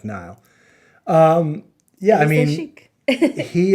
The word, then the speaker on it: Niall: that i mean now not oh niall i always wanted to call him neil or i thought well i knew it was not but i always wanted to spell it it's actually spelled like nile um yeah i mean